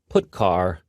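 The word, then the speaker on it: putchar: They are pronounced: printf, putcar, and puts.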